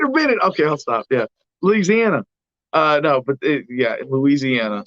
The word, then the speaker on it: Louisiana: Louisiana. See, I say it like Jerry Reed. Louisiana.